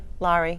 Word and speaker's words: Laurie: And also Larry White was in it, and she was great too. Laurie White, yeah. That's how you say it, Laurie White? It's Laurie. Laurie, Yeah.